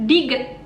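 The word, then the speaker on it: 디귿: Yang ini namanya Diget. Cara bacanya T atau D, T atau D.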